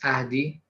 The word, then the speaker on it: Ahdi: Well, and if I have to pronounce it in Persian, it's Ahdi, but I'm Ahdi.